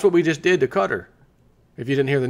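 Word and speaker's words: Qatar: says US dollar shortages hit qar you know cutter as they it looks like it's qar but it's pronounced cutter QA are the country which again Donald Trump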